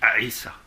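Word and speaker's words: عيسى: personne de Aïssa, bon, ça s'écrit Issa, vous voyez qu'il y a un petit C en exposant, parce que c'est une lettre arabe, le A, qui est une consonne mais qui se prononce A. Donc on dit Aïssa. Bon, habituellement dans la langue on dit Issa.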